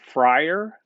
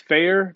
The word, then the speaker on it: Fair: My name is Fair, pronounced Fair. It's not Fryer. It's not Fire. Hey, detect a pet peeve in there. It's Fair, Professor Fair.